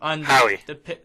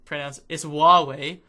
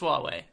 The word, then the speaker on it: Huawei: Yeah, Howie. Howie. It's Huawei. If you don't. Well, you call it. I don't know how to pronounce it anymore. It is Huawei. Everybody says it different. It's Huawei.